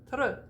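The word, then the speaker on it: peintre: very important rule okay when it's nasalized that n is not pronounced don't do it don't do it or i will get you don't say don't do it ever go right to the t just do the nasal and then go right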